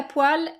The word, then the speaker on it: poêle: la poêle donc la poêle à la prononciation c'est marrant parce que c'est la même prononciation que les poils qu'on a sur la peau poils ça s'écrit bizarrement